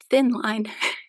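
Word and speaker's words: Tynn Line: It also comes in, this is pronounced thin line.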